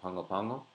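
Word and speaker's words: Pago Pago: I used to live called Pongo Pongo and yes it really is pronounced that way here's another weird goof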